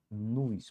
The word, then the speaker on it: nós: Pero la maioria não pronuncia nos, la maioria pronuncia como nuis, como se isto aqui fora uis.